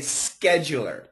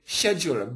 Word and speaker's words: schedule: scheder orer okay so in America we say Schuler with a K and in the in the UK they say schedu but the UK is